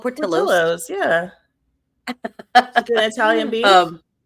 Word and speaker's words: Portillo's: Not Portillo's. Because it's spelled Portillo's, but they call it Portillo's.